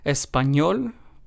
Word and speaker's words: español: In these words, we stress español, estoy, feliz, and trabajador. So as you can hear in all four of these words, we stressed the very last syllable because, of course, this is what this rule asks us to do. And of course, these words